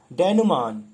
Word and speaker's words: denouement: Denouement. Actually, its pronunciation is exact pronunciation is denouement.